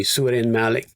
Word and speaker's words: Søren Malling: So that was a gentleman by the name of Søren Malling. I looked that up as well, and you've just pronounced it exactly as it's meant to be, Søren Malling.